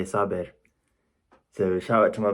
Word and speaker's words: Saber: So obviously my name's Sabir, and obviously my name's Arabic, so it's pronounced Sabir, but because I'm Bengali, we say Sabir.